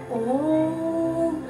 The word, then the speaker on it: ओम: ओम तीन शब्दों से मिलकर बना, ऊ हा म, ठीक है। बहुत सारे लोग ओम बोल देते हैं, नहीं, ओम, यानी कि ओ हा म। जो ओ का उच्चारण है वो आपके पेट से आएगा और ह का उच्चारण आपकी छाती से होता हुआ म गले से बाहर निकलेगा।